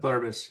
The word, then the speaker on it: Pluribus: So right now it's like we did in the rotation Apple TV Plus to watch Pluribus. I think I'm pronouncing that wrong, but Pluribus, yeah, you got it.